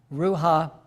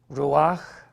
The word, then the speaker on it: Ruach: So there is Nefesh, Ruha, and Neshama. Well, how do you say it? Okay. Neshama? Nefesh, Ruach, Neshama.